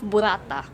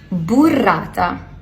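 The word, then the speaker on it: burrata: This gorgeous ball of burata. I think that's how it's pronounced. It's pronounced burata. Burata. Burata.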